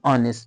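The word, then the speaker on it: honest: एन ऑनेस्ट man. Same thing यही है। यहां भी एच आर के पहले कसोनेंट है और वो साइलेंट है। एच का साउंड नहीं है। ओ का है।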